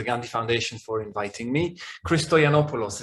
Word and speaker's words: Christoyannopoulos: Christoyannopoulos is how you say it, but I'm used to it being butchered and I really don't mind. It's entertaining, it's fine. It's funny how different nationalities tend to pronounce it in different wrong ways and to compare pronunciations, but it's fine.